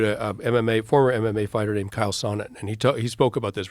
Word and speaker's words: Chael Sonnen: And I interviewed a former MMA fighter named Chael Sonnen, and he spoke about this really eloquently. He said, Kyle Sonnet?